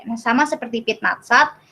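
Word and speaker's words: пятнадцать: Nah, sama seperti pit natsat, ini bacanya bukan piat natsat, tapi dibacanya jadi pit natsat.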